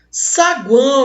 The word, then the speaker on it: saguão: Esse U é uma semivogal, esse A que está no meio é uma vogal, e esse O com som de U, outra semivogal.